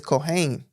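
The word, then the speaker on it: kohen: right the priest right the priest is the Cohen or the Cain proper way to say it is cohain you see that said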